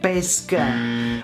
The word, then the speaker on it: pesche: When you want spaghetti with pesce and not with pesche.